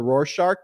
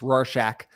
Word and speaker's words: Rorschach: we talked about the Rorschach test on the last one I view that I just got to correct you Ben because everyone's been real upset with your pronunciation here it's Rorschach and we were just